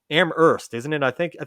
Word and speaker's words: Amherst: no no actually it's amherst isn't it i think i think that's one of those cities where you don't pronounce the h i think it's a silent age it's amazing either way yes amherst massachusetts by hardcore punk